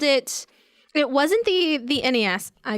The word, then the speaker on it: NES: just said apparently wasn't the proper way to say it. Yeah. Really? Yes. It's NES. So what's Ness.